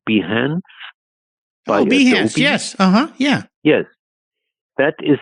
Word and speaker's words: Behance: There is a website called, I don't even know whether I pronounced this correctly, Behance. Behance, yes.